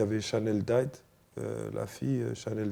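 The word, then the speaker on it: Dyer: Il y avait Chanel Dight, la fille Chanel Dight. Je sais pas si vous. Ah je oui, vois c'est Chanel, qui. tu dis comme ça Chanel Dight, ouais. D'accord, Diet on dit, ouais. Ça Mm.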